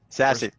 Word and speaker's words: SASE: And according to Gartner and these groups that talk about it, it's pronounced sassy, bro.